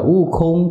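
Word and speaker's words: Wukong: Đọc là Wu Kong thì nó cũng trùng cái âm với là Wu Kong là Ngộ Không.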